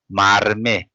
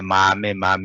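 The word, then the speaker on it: མར་མེ: So here we produce, as like Cynthia said, marme. We produce the ra. That for this just we say marme. Then we say mame. Is even not comfortable for the lips. We produce the ra, marme, because for the because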